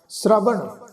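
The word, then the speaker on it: ਸ੍ਰਵਣ: नाम के धारे पुरियां सब भवन, नाम के संग उधरे सुन श्रवण, श्रवण सस्से दे पैर विच अद्धा रारा जी, श्रवण।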